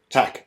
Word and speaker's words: Takk: Takk.